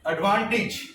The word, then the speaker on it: advantage: एडवांटेज. आप pronounce करो.